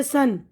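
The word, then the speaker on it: son: ई भी होता है जैसे आप जानते हैं सन सन बेटा को कहते हैं और एस यू एन सन सूरज है तो दोनों का तलफ्फुज सेम है लेकिन इसमें ओ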